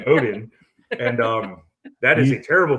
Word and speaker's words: Oden: I'm just going with Greg Odom. Just Greg because Oden. Well, you also got his name wrong, so you should be Yeah. disqualified. It's Greg Oden, and that is a terrible first pick.